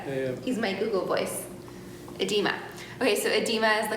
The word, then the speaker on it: edema: And how do I pronounce that word, Bill? Edema? Edema.